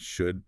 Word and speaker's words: should: Classic silent L, pronounced should and could.